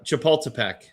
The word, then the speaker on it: Chapultepec: Uh Chapultepec. Cha-pul-te-pec. It's spelled the way you say it.